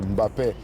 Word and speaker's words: Mbappé: On ne prononce pas le M de Mbappé.